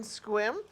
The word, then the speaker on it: Sequim: House number three in Squim is on 433 North Napman Avenue. Can I don't think they pronounced the C.